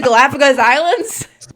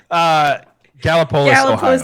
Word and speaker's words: Gallipolis: Connected to the Galapagos Islands. Wrong too. It connects it to the Galapagos. Gallipolis, Ohio. Is how it's pronounced.